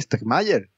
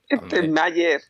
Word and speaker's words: Stegmaier: Como Jamie Stegmaier. Stegmaier, el hombre que nadie sabe pronunciar su apellido.